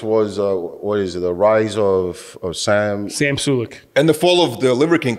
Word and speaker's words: Sulek: His name is Sam Sulek, right? Did I say his name correctly? Yeah, Sam Sulek.